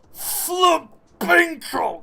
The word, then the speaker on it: Flintrol: The bear's name is Flintrol. You have to pronounce it like that.